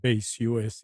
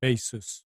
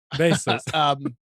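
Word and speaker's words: Baseus: name and the brand name is not Base US, it's Basis. Is that how it's pronounced? No, it's his own thing. Oh, Basis.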